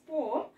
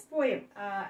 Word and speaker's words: poem: Actually, the pronunciation is poem, but in India we pronounce it as poem. We can pronounce it either way because it is allowed.